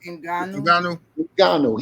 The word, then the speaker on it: Ngannou: You know, but as far as Francis, how do you pronounce his last name? Ngannou.